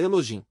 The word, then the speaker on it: Elohim: tem som, se pronúncia como J, de maneira que sua pronúncia exata é Elojim.